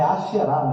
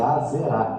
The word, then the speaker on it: Asherá: E você viu lá em 1 Reis, que Jezabel pronunciava Baal e Aserá, que o nome é Asherá no hebraico, mas é Azerá, que está aqui no português, né?